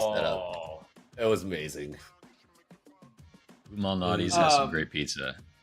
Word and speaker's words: Lou Malnati's: pronunciation. Lou Malnati's.